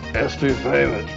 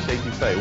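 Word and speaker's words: étouffée: I want some estouffee, crawdads. What Bubba's trying to say is crawfish etouffee, one of our most popular Cajun dishes.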